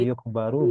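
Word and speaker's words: يُخْبَرُ: Kalau yukhbaru dia dikabarkan. Oh, yukhbaru. Maknanya jauh kan? Iya. Dia mengabarkan atau dia yang dikabarkan. Iya. Hanya gara-gara spell itu mbaknya kasrah sama fathah.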